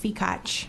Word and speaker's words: Fikach: It's pronounced Fikach.